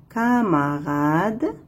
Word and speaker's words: camarade: C. Avec A, toujours se prononce K.